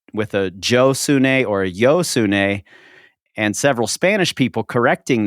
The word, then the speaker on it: Josune: a Joe or a yo sun and several Spanish people correcting them saying it's hosun that's how you pronounce the J in Spanish but I've seen interviews